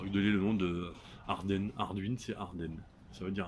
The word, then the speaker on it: Ardwen: Arduin qui s'écrit comme la bière, mais qui se prononce Arduin.